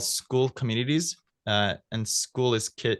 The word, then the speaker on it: Skool: If you just search for, I believe it's called School Communities, and school is spelled with a K, SKOOL.